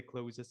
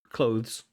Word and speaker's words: clothes: Let's say, and we can just toss in our dirty clothes and have them freshly washed. And Can we get that? Clothes, not clothes.